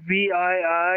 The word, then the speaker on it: VII: sometimes well you know his name misspelled VII and pronounced V but it looks like the Roman numeral for seven Oh someone trying to